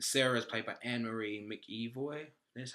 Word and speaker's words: McEvoy: And Sarah is played by Anne-Marie McEvoy. That's how you pronounce her name.